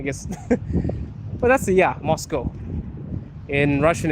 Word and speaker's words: Moscow: Oh snap, should I not pronounce the W in Moscow? No, well, it's Moscow, not, yeah, I guess. But that's the, yeah, Moscow.